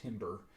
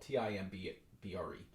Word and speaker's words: timbre: all it's it's uh very commonly mispronounced timber uh because of it's the way it's spelled t-i-m-b-r-e um but uh timbre